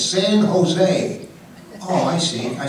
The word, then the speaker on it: San Jose: you going he says San Jose I said San Jose that's said California he say yeah I said no they they don't pronounce the J it's San Jose oh I see I